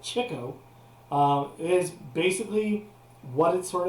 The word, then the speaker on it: Chico: makes music harpo is silent chico which could pronounce called chicco is basically what it sort of implies uh